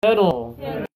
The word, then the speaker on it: pedal: one I want you to keep your teeth together when you say it this one is pedal pedal pedal yeah don't open your mouth if you're opening your mouth I need to paddle my bike it's like my bike you taking your bike in the river I don't understand paddle oh you need to Pedal your bike pedal teeth together okay for pedal you